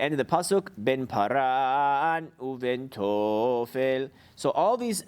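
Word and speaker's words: פארן: So for example, paran, where it's under the resh, paran, not paran. Since it's under the resh, you accent on the resh.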